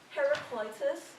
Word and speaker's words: Heraclitus: And this is how we pronounce them today in English. Thales, Pythagoras, Heraclitus, Democritus.